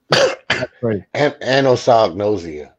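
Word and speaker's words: anosognosia: of results the whole time is all predicting anos noia that's how you pronounce it thank you I had to say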